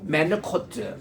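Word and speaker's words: מְנֻחוֹת: 메누코트. 코가 그 H의 거친 발음에 메누코트라는 것은요 아주 잔잔하다라는 뜻이에요.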